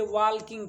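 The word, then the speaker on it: walk: हम पढ़े हैं कि जब किसी वर्ड में के से पहले एल हो तो उस वर्ड में एल प्रायः साइलेंट होता है।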